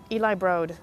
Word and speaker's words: Eli Broad: scenes not pronounce the broad you know what Eli Broad is pronounced broad not broad it's eli broad yeah so there you have it guys the